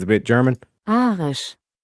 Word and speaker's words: Arisch: Arisch. Okay, well, let's play that again because it's a bit German. Arisch. Arisch. Arisch. Which sounds a lot like Irish.